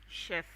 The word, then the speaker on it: chef: This word this word is pronounced chef.